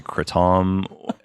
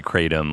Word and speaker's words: kratom: do you look like an asshole and say kratom, or do you say kratom like an American and say it wrong?